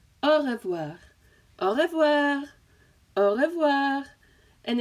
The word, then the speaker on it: au revoir: And the pronunciation of it, so we can practice that together. So au revoir, au revoir, au revoir, au revoir.